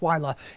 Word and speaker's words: Willa: I want to start with a close-up look, high-resolution look at Hurricane Willa, spelled like Willa, but it's Willa.